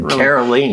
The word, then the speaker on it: Caroline: name in my head carolene really sticking with you you know I need to remember it's like rhymes with yeah kerosene kerosene I'll remember it now